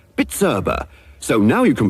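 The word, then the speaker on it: Bizerba: Machinery is bitera b i z e RBA pronounced bitera so now you can pronounce it give your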